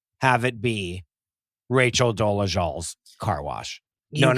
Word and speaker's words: Dolezal: Like you could open a car wash but but you can't not have it be Rachel Dolezal's car wash.